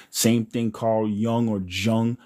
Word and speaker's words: Jung: Same thing Carl Young or Jung. I I was told that it was Carl Young and that J is pronounced like a Y, but whatever.